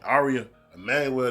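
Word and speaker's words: Ari Emanuel: I think his name Ari Emmanuel, that's how you pronounce it.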